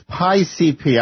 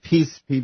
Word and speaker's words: PIECP: Oh, and it's PI-CP. I said PCP because I didn't know how to pronounce that.